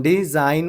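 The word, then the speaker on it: design: Next क्या है अपने को, हाँ डिज़ाइन बोल रहे अपन, डिज़ाइन बोल रहे अपन, यहाँ पे क्या आ जा रहा आपको, G साइलेंट हो जा रहा।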